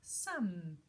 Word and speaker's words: some: and calm number three very similar to come is some can I have some sweets some with a silent at the end again and number four